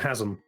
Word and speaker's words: Chazm: FYI, Chazm has a hard C, not a chess sound.